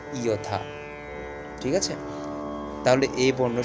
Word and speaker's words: যথা: আবার যথা, যথাকে আমরা উচ্চারণ করবো কি ইয়থা।